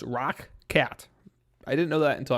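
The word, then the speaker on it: ROCCAT: These are the Rocket ones that I did a review on a couple weeks ago. By the way, it's pronounced Rock Cat.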